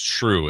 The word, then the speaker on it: Schroeder: I always thought it was, but I swear I saw it's just Shrew is how it's.